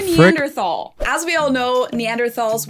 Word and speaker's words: Neanderthal: Neanderthal. Tal meaning valley. Today the word is spelled T-A-L, but back in the day it was spelled T-H-A-L in German, but the H is silent either way.